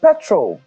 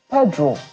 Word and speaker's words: Pedro: Petrol. People were angry when the compare later pronounced his name properly. And Mr. says, he said Pedro. His name was Pedro. Pedro, not Petro.